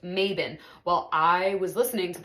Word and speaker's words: Mabon: The way it's written out that we would pronounce it in the United States is Mabon, right? And then online you see that people say like, oh, like it's actually pronounced Mabon.